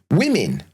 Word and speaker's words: women: Or women. But even though it's spelled with an O. Like, not woman, women.